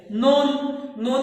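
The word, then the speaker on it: known: नोन में भी के साइलेंट है।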